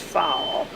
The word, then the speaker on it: foal: Remembers a long-ended goal of that ultimate poetic place that once, like a half-grown foal, which I pronounce fowl, jumped the pasture gate and trotted away.